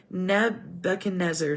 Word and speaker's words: Nebuchadnezzar: 18th year of NE I keep saying it wrong Nebuchadnezzar Nebuchadnezzar's Reign he deported 832 persons